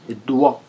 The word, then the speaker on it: doigt: Le G et le T ne se lisent pas. Ça se lit doigt.